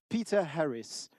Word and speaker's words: Peter Harris: C'est Peter Harris. Et là, je me permets de prononcer à l'anglaise parce que voilà, il n'y a pas que des Français dans l'assaut.